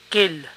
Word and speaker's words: quel: habla si el sujeto es masculino es quel si es femenino queel para el plural si el sujeto es masculino Kel y para el femenino Kel básicamente los singulares y plurales tienen la misma pronunciación pero diferente escritura veamos ahora unos ejemplos